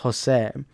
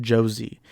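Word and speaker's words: José: It's pronounced Jose, but you'll have some Americans pronounce it Josie.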